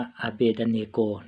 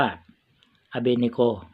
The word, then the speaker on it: Abednego: น่า จะ อ่าน ว่า อาเบด เนโก นะ แต่ ว่า เรา น่า จะ อ่าน ว่า อเบ เนโก นะ ฮะ มัน ง่าย ดี นะ พี่ น้อง โอเค อาเบด